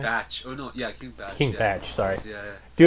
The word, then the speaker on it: King Bach: Oh no, yeah, King Batch.